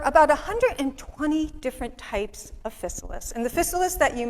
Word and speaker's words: Physalis: And there are 3 different pronunciations of Physalis. There's Physalis, Physalis, and Physalis. You pick the one you like. We say Physalis.